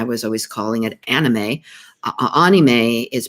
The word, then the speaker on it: anime: to me i was always calling it anime anime is pronounced a-h-k-n-e-e-m-a-y it's an abbreviation for the word